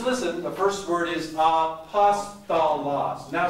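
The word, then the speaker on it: ἀπόστολος: The first word is, now just listen, the first word is apostolos. Now say it. Apostolos. Now here's how you pronounce the next word.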